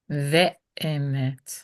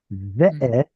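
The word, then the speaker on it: ואמת: So how would you say and truth? Ve'emet. It would vowel harmonize with that reduced segol. Ve'emet.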